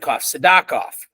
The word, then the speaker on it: Sidakov: The timing is okay for this, but last week I interviewed, we pronounce it Sidakov is how the correct pronunciation of his name, Grant.